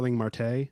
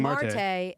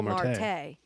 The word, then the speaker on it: Marte: What screws me up is the Ketel Marte, Starling Marte. I've said their last names wrong out of context because they're pronounced differently depending on the. That has messed me up before. Starling Marte. Oh, that sounds so weird. No, it's Starling Marte. And it's Ketel Marte.